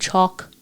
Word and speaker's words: Chalk: word I was using, kind of like caulk on your house, but I know folks